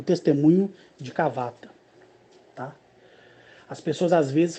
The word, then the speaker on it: Kavata: As pessoas às vezes falam até assim, até é importante dizer isso, que as pessoas podem dizer assim, Cavata, Cavata, Cavata, Cavata. E querer colocar acento. E nenhum nome extraterrestrial leva acento.